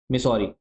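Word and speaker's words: Missouri: ये आपको मिसरी रिवर दिख रही होगी। कौन सी? मिसोरी। और बोलते क्या है? मिसोरी मिसिसपी river. ठीक है? एक साथ प्रोनाउंस किया जाता है।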